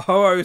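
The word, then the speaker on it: Houou: or who ho like people keep mixing up the pronunciation but ho-oh soldier nuts i mean his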